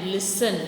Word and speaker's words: listen: The next लाइन इज एंड, LISTN, लिसन, यहाँ पे T silent है, LISTN, लिसन मतलब सुनना।